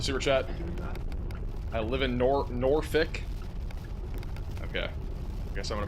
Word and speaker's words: Norfolk: For future reference, Norfolk is Norfick.